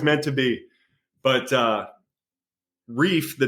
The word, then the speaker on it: Reiff: of Harrisonburg Virginia um the reason we picked reef is because a we like the sound of it it's one syllable yeah um and and